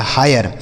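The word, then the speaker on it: hire: आर ई से र लिखा गया हायर। एच आई आर ई हायर।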